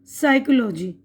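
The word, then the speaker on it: psychology: देखिए यहां पर जो पहला हरफ प है ना तो हम क्या पढ़ते हैं साइकोलॉजी पी की आवाज नहीं आ रही यहां पर पढ़ रहे साइकोलॉजी यानी नफ्स यहां पर राइट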